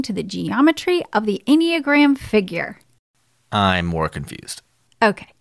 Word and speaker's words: enneagram: the what enneagram honey it's uh pronounced instagram uh nope enneagram okay maybe this will